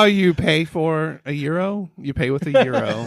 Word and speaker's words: gyro: write that gyro chiro so it's euro like the money okay well how do